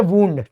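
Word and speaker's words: wound: ये है first form, इसका नाम ही है वुंड, इसका प्रोनाउंसिएशन ही वुंड, इसका मतलब होता है घायल होना, घायल करना, तो वुंडेड हो जाएगा और वुंडेड हो जाएगा, ठीक है।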